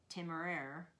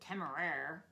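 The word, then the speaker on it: Temeraire: now is uh Naomi novic and she wrote timer that's how you pronounce it which in my mind I call it tamay because it's nicer I wish he'd called the dragon tamay in the first place but tamer in my mind I don't like it so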